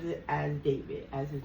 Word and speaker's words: D4VD: So he spells it D4 V D but he pronounces it as David as his name is David Burke.